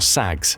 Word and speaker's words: SAG: into three Surface Action Groups or SAGs (pronounced sag).